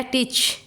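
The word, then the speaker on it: teach: Then आ गया टीच, TET CH ए उच्चारण, ए का प्रोनाउंसिएशन नहीं हो रहा है।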